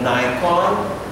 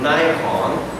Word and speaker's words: Nikon: has outsourced production of Nikon sometimes you pronounce Nikon that's the American or Nikon you know Nikon right Nikon in American is Nikon okay so you uh